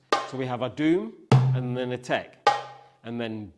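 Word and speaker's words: dum: a car okay so our doom is spelled d oh um and our tech is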